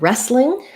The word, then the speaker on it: wrestling: So next request, we have wrestling. Here our W is silent. So we just have first syllable stress and we have the WR says R, re. We have the red tent vowel, wrestling.